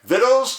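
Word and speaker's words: victuals: division of vitals and close stop right there vittles did I just say yes the word spelled v-i-c-t-u-a-l is pronounced vital this is more typical than you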